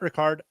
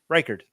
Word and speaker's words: Reichard: Also start Aubrey or is that Ricard? He's a kicker, so I don't know how to say his name. Reichard.